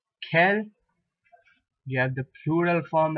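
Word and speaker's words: quel: masculine as K there q u a L Kel you have the plural form as K again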